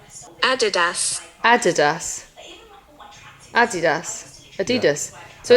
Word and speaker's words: Adidas: Kyle, they are Adidas.